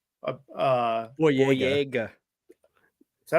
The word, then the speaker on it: Boyega: But like you could go ahead, you could bring a bunch of people in, like John Bodega. Boyega.